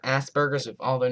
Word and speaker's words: Asperger's: It's pronounced Asperger's, not Asperger's.